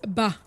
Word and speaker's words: ba: So the first triangle is pronounced ba. B-A-H.